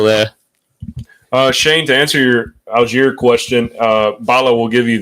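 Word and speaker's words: Allgeier: Finally, someone pronounces something wrong because it's not an English soccer player. It's an American football player. Tell me, John. Algier.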